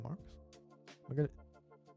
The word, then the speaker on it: Marx: This is Marx. Was it X? I don't know. But in Korea, instead of saying Marx, which is probably the proper pronunciation of Marx, we say it the Japanese way, which is Marx.